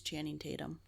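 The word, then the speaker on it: Channing Tatum: dance he can strip and most importantly he's chanting Tatum I said it right this time you did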